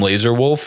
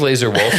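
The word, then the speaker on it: Lazar Wolf: I'm sorry to all my listeners for not saying the name Laser Wolf enough. It's pronounced that way.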